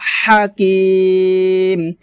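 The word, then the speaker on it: حكيم: ওয়াল কুরআনিল হাকিম হা হা, হাটা খুব সুন্দর করে গলার মাঝখান থেকে চাপ দিয়ে উচ্চারণ করতে হবে, ওয়াল কুরআনিল হাকিম এভাবে,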